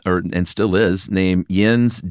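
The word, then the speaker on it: Jens: and still is named Yens Jeb Bergenston uh as lead designer. Watched a few interviews with this guy. Is it pronounced Yins? It's definitely Yens, but it's also Jeb and not Yeb.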